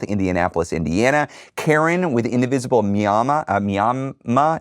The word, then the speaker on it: Miami: Karen with Indivisible Miama. It's not Miami. It's spelled Miami, but it's not pronounced Miami.